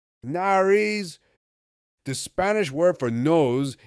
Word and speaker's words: nariz: What word rhymes with Paris? Nariz.